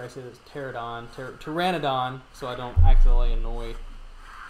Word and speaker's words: pteranodon: how to say it the correct way so pteranodon or at least i didn't think about correcting